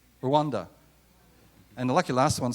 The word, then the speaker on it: Rwanda: R for, it's got a silent letter in it. Rwanda.